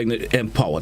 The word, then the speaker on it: MPower: So Empower, it's spelled MP, not EMP, right? It's a unique brand. Empower. Yeah. M, capital M, capital POWER, right?